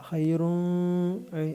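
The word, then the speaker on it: خيرٌ: ഹൈറുൻ ഇവിടെ മുൻപ് പറഞ്ഞിട്ടുള്ളതാണ് ഈ ളമ്മും അതിന്റെ മുകളിൽ ഇങ്ങനെ ഒരു ചിഹ്നവും വന്നാൽ ഉൻ എന്ന് വ്യക്തമായിട്ട് ഉച്ചരിക്കണം ഇവിടെ മണിക്കാൻ പാടില്ല ഹൈറുൻ അങ്ങനെ പറയരുത് ഹൈറുൻ എന്ന് തന്നെ പറയാം മണിക്കുകയും ചെയ്യരുത് ഹൈറുൻ ഹൈറുൻ റുൻ രണ്ടും വേറെ വേറെ ആയിട്ട് തന്നെ കേൾക്കണം മണിക്കാൻ പാടില്ല പിന്നെ ഇവിടെ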